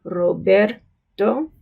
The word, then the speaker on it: Roberto: You will notice there's two R's in that name, right? The second R has the flapped, like D sound, Roberto. But the first R, an initial R, is pronounced with a trill.